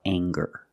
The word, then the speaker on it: anger: word and it's anger let's talk about anger we have the nasal sound plus the hard G the G sound together anger anger anger is